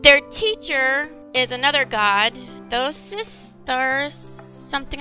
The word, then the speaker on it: Thoth: Their teacher is another god, Thosis, something like that. They don't say his name very often. Thoth.